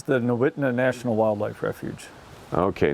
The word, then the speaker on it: Nowitna: And we're in I guess we're in this refuge called Nate, how do you pronounce this name of this refuge? It's the Nowitna National Wildlife Refuge. Okay, Nowitna.